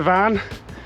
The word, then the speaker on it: Tryfan: So we're making our way up to the van, as it's pronounced properly, with Big Jack.